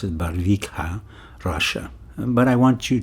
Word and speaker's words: Barvikha: r VI i k ha a and I pronounce it barika Russia but I want you to listen to